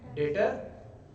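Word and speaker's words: debtor: Term use करते हैं, डेटर को बोलते हैं डेप्टर, इज नॉट डेप्टर, याद रखना, ये गलती मत कर बैठना, this creates wrong pronunciation, that means थोड़ा सा इंप्रेशन खराब होता है। डेप्टर जैसा कोई चीज नहीं होता, इट्स ओनली डेटर, याद रखिए।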